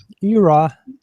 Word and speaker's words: eora: the guy in charge of tech out at eora, how do you pronounce it?